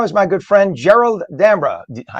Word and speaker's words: D'Ambra: Joining us now is my good friend Gerald D'Ambra. I say D'Ambra, Gerald, because an Italian say that.